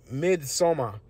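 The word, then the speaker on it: Midsommar: it's called Uh uh mid somar right like is the Swedish way of saying Midsummer it's spelled m i d s o m m a r and on that um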